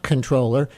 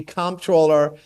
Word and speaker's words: comptroller: Looking at this spelling, listener writes he is not controller, he is comptroller. You know, I'm pretty laissez-faire here. You can call me comptroller, you can call me controller, you can also call me Mark.